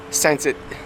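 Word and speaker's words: Saint-Étienne: on est à saint-etienne ça se prononce saint tite et les trois camions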